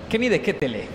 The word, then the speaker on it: Kenny De Ketele: que tenemos en cali que vi de gente kenny de ketele es la pronunciación de él el ciclista que en ese